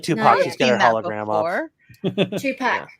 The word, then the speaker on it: Tupac: like Tupac hologram off two pack that's how you say it two pack two pack